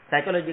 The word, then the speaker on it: psychology: उसमें से P silent है, SY का उच्चार साय होता है, CHO का उच्चार चो नहीं होता है, को होता है, GY का उच्चार जी नहीं होता है, जी होता है, फिर भी आपको सही लगता है।